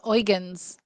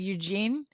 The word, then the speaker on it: Eugen: other ship that is with the prins the oans which when I was reading the book I read it as Eugene but it's thankfully you know watching the film